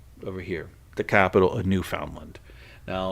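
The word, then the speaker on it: Newfoundland: they like to say New Finland right New Finland it's not New Finland it is New Foundland they pronounce it strictly how it's spelled New Foundland like and you know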